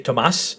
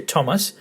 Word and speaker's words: Thomas: And as you can see, because the emphasis on the word Thomas is in the first syllable, we don't say Thomas, we say Thomas, you put the tone as well.